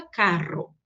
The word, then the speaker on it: carro: Doble R. Burro, carro, correcto. Então, sempre forte e vibrante. La sonoridade é semelhante à utilizada em el sur de Brasil. Não se deve confundir com la R gutural utilizada em outras regiões. Então, no Mato Grosso do Sul, a gente usa o R gutural, carro, né? O do espanhol é semelhante ao do sul do Brasil, carro, tá? Que então em espanhol fica carro.